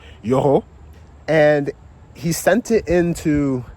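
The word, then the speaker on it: Yoro: I saw a deep ball from Yuro. Yoo. I got to start pronouncing his name right. You know, I speak a little bit of French. So, Yoo.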